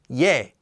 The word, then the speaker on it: 예: with an extra stroke with an added y sound yay and just like we